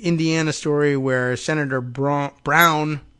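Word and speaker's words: Braun: story where Senator BR Brown he says brown but it's spelled Brun is running for governor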